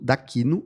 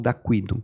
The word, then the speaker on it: D'Aquino: Então é Nando D'Aquino ou D'Aquino, se a pessoa quiser pronunciar em italiano, é D-A-Q-I-N-O.